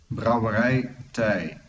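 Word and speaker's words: Brouwerij 't IJ: Here is how you pronounce brewer. There it is. Are you ready? Are you ready? Yeah. Here we go. Brouwerij Thij.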